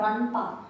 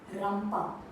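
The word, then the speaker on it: ರಂಪ: It's not ranpa, it's ram. Rampa. One more.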